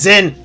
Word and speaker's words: Zin: fact they call him Jin proved it. It's written as Zinn. His name is Zen. Just pronounce it correctly.